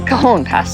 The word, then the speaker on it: Cajon Pass: Or maybe Cajon Pass, Cajon Pass is how you say it, sorry.